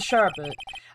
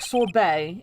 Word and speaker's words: sorbet: Edgy, I don't see you for a couple of years and your heart turns to sherbet. I'd say more like sore bay.